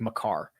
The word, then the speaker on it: Makar: I think it's not pronounced Maker. I don't think it's like Makar.